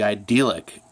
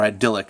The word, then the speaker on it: idyllic: Like, their marriage should be idyllic, or idyllic, as that's how you pronounce it.